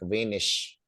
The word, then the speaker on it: wenig: Regel is rule that whenever ig comes in the end of the word, you pronounce it as ich, right? Like wenig.